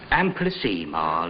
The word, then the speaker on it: amplissima: Amplissima, Latimer. Ema, not ima.